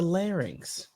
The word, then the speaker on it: larynx: It's a larynx. L n y l lx. It's a lx. How are you pronounce pronouncing it?